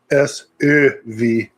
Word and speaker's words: Söv: It's SÖV. You have to really pronounce the umlaut.